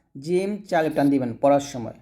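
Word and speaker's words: ج: এরকম ভাবে উচ্চারণ পারবেন আর এটা জিম জিহবার মধ্যখান উপরের তলার সঙ্গে লাগিয়ে আমরা উচ্চারণ করব জিম এরকম ভাবে আমার সাথে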